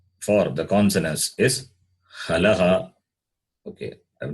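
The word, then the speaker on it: halaḥ: They are called halaha.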